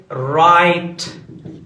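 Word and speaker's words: write: قدرمنو سکونکو که چیرې ډبلیو او آر راسي نو په دغه حالت کې چې دی ډبلیو سایلنټ کېږي، خاموشه کېږي، غږ نه لري. دلته تلفظ کېږي؟ نه تلفظ کېږي. قدرمنو سکونکو ګورئ رایټ لیکل. دا رایټ دی، و رایټ نه دی درنو سکون، ځکه چې دا ډبلیو دلته خاموشه دی.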